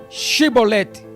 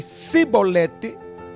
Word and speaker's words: Chibolete: Se declarava não, lhe ordenavam: então diz Shibolete. Se a pessoa dissesse Sibolete, sem conseguir pronunciar corretamente a palavra, prendiam essa pessoa e a matavam no lugar de passagem do Jordão.